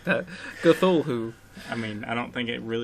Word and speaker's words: Cthulhu: Cthulhu. I mean, I don't think it really has a real pronunciation. But look, see, it's C, and then Thul, it's Thul, and then who.